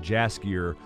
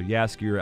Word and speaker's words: Jaskier: I was saying Jaskier because it is spelled with a J, but I believe that's supposed to be silent. So Jaskier, I believe, is correct.